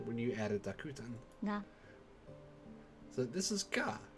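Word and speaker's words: が: Ga. So this is ga. You pronounce it as ga. It's like ah.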